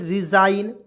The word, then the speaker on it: resign: यहाँ देखिए आर ई एस आई जी एन, देखिए आई जी एन है, IGN है, IGN, तो इसमें आइन के रूप में जोड़ ना दीजिए, एकदम किसी भी शब्द में आइन जोड़ दीजिए। तो यहाँ देखिए RESIGN रिजाइन, SIGN साइन, इससे होता है स जोड़ देंगे और इसमें आइन जोड़ेंगे तो क्या हो जाएगा साइन।